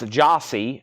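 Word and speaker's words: Jyasi: albums tonight that's 1999 uh pronounce jossi j y a s i that's the name of the album pronounced jossi seal that's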